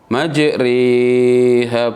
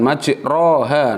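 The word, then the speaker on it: مجراها: Majriha, bukan majroha, nek fathah, nek i majriha.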